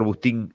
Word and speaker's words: Bustín: de acá para adelante cómo le va doctor agustín y no sé si estás bien produciendo su